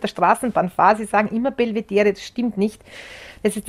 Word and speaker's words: Belvedere: im wörterbuch es ist die aussprache belvedere belvedere also das wiener belvedere heitz wiener belvedere und nicht wiener belvedere in der straßenbahn fälschlicherweise